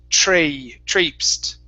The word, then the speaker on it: traipsed: Here, this word, the vowel sound is a long A sound. So it's traipsed.